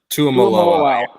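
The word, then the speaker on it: Tuimoloau: How do you pronounce that? It's like Tuamalo. Yeah.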